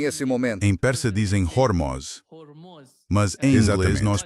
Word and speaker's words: Hormuz: O russo pronuncia o H quando é uma palavra com H. Mas, por algum motivo, eles não... É Hormuz. A pronúncia per se é Hormuz.